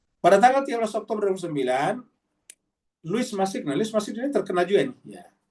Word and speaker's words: Louis Massignon: Ini kalau tidak salah cara bacanya Louis ini kan kalau bahasa Prancis. Louis Massignon, ya, Massignon. Ya.